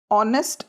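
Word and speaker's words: honest: adjective है ऑनेस्ट मैन ऑनेस्ट एच से start होता है जो कंसोनेंट है बट इसका साउंड होता है ओ से तो एन ऑनेस्ट मैन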